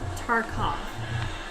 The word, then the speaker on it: Tarkov: Ken pronounced it right. It's Tarkov.